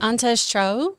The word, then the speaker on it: Antje: It's a German name. Oh. Antes Cho, is that it? Yeah, I mean, when you read the name, ANTJE. it's a difficult one to Antia. pronounce. It was Antia? Antia.